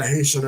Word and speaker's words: Haiti: when they mentioned Haiti they actually pronounced Haiti the way the Haitian people pronounce it you know I mean